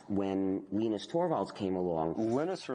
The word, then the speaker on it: Linus: venus torvalds came along linus or linus what's exactly your preferred pronunciation um when i speak swedish it's venus when i speak finnish it's linos when i speak english it's linus and i really don't